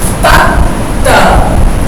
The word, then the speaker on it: तख्त: तख्त, तख्त, नहीं तो अगर ख पूरा होता तो हम कैसे पढ़ते? त ख त, लेकिन हम त ख त नहीं पढ़ेंगे, तख्त। तख्त यानी ख साइलेंट रहेगा एक तरीके से, आधा ख है, तख्त।